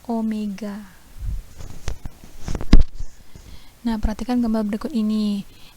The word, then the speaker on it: omega: w tapi ujungnya itu enggak ketemu nah ini bacanya Omega nah Perhatikan gambar berikut ini Ini ada dua